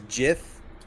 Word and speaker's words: GIF: Because he's got the gift world. What the fuck is going on right now? I like how one of the arguments for GIF versus JIF is that if you pronounced it the way, if you pronounced it